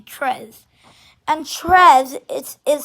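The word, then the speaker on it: treize: is pronounced dews and 13 is tres tres or tres well no it's actually tres and tres is is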